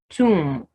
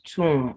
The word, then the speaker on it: tomb: have comb climb boom tomb so the word is tomb not tom now the bomb if